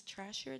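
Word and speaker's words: Thrasher: like that brand, that it's skateboard brand, it's Trashier, that's how you say it.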